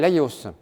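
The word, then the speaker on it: Laïos: rien à l'histoire des dips son père s'appelle la yos d'ailleurs ça s'écrit lai tréma os Laos le père d'edits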